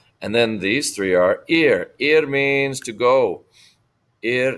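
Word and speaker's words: hay: And the last one is the verb I. I means there is or there are. It's pronounced like your eyeball. I, E-Y-E, but it's spelled H-A-Y.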